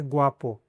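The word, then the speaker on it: guapo: बाकी अगर खे ऊ के बाद में आ आता है तो उसको ऊ को प्रोनाउंस करना है, जैसे कि ग्वापो। ग्वापो मतलब हैंडसम।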